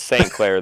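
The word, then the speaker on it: St. Clair: social please uh off doesn't yours rhyme with like eclair who what wait your last name rhymes with eclair no Jordan doesn't yours RH eclair oh yeah it does H yeah eclair are trash it's St Clair though eclaires are trash that's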